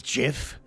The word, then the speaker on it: GIF: okay did you know GIF is actually pronounced as Jif because I'll be back in